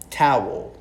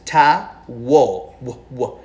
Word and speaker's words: towel: Towel, right? So, by the way, the pronunciation of this is ta-wo. Like whoa, towel, okay?